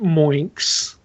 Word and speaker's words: MMO Inks: It's actually pronounced Moinks.